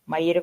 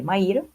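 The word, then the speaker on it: Maïra: Maira se deve ler deve ler como Maira com trema no francês né ela Mud grafia também assim como no macunaima também aconteceu isso mauna escrito com o u i trema para ficar na pronúncia parecida qu português então nessa nota da tradutora ela explica que maa se lê Maira e que os termos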